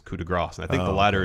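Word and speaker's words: coup de grâce: And Corey Graves says coup de grace. And I think the latter is correct because coup de grace would be G-R-A-S. S, yeah. Whereas it's not spelled that way. It's spelled like grace.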